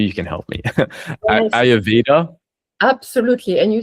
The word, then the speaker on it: Ayurveda: I don't know if I can pronounce it right. Maybe you can help me. Yes. Ayurveda.